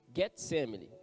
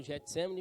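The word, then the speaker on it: Getsêmani: Em seguida foi Jesus com ele a um lugar chamado Getsemane. Muitos falam Getsemane, mas a pronúncia é Getsemane.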